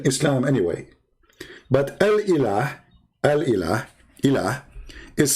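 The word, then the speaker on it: إله: But al-ilah, al-ilah, ilah, is simply E-L, and there is little H at the end, like a sound of a music. Ilah. Still, it's ilah. It's not Allah. It is Il. Idiot. Il. Ilah. That sound at the end, the little tiny H, it's not really even an H. It's like a music sound.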